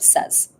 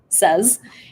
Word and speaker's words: says: before this session and looked up the pronunciation of says and the vast majority of people says says and there's only one speaker that we found out of 10 that says say instead yeah so I'm not completely